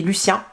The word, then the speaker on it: Lucien: Et dans le premier tome, donc on suit Oliver et Lucien, à prononcer en français parce que sa maman est française d'origine.